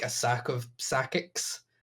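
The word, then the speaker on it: Psakiks: it's this is so hard to pronounce. Sakix, P-S-A-K-I-K-S.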